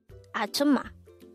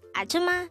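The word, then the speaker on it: 아줌마: hangout word number 147 atuma atuma this is pronounced is a three syllable word the first syllable is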